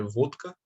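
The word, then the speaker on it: водка: Então, por exemplo, o vodka, na verdade, é vodka, que se pronuncia em russo. O D ele vira desvozeado porque o K, que vem logo depois, é desvozeado. Ou, em vez de vozeamento, pode ser também ponto de articulação.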